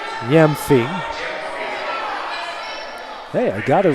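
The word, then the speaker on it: Gyamfi: g y mfi and most of the time that g is silent so it's Yami not that I'm an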